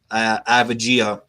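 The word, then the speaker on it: Avdija: Abdia, man. Don't look at the letter. Just say Abdia.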